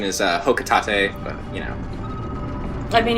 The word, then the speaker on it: Hocotate: I say Hocotate, because I think it rhymes with freight. Sounds good. Like, the official pronunciation is Hocotate, but, you know.